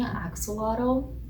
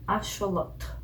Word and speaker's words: axolotl: pick between these two lotto that's the correct pronunciation axolotl is the colonizing way of saying it because